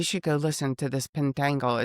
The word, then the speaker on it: Pentangle: And I I have just recently become aware of the band Pendangle. Pendangle. Did I say it right? Pentangle.